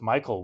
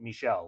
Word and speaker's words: Michel: uh first name and I just always assumed it was Michael with like a weird spelling but it is actually like Michelle like like the French pronunciation.